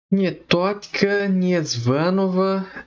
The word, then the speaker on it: Niétotchka Niezvânova: Nietotka Niesvanova, é mais ou menos assim a pronúncia.